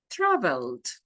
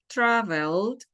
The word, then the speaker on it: traveled: Travel, traveled. Traveled, traveled. Thus, this e is mute. We don't pronounce it.